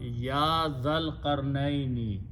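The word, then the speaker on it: يَا ذَا الْقَرْنَيْنِ: So if you write down together ya like this, so it becomes, the pronunciation will become Ya Dhal Qarnaini, O Zul Qarnain.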